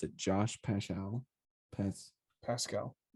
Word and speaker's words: Paschal: give them i think this is how you pronounce it josh paschall pets pascal pascal yeah from kentucky yes i will get